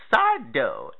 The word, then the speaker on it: Sardo: Now, a lot of your stories featured side dough, accent on the dough.